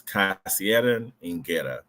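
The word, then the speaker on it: Kasserian Ingera: how are the children the statement of the pronunciation is casan Ina k a SS i e r a n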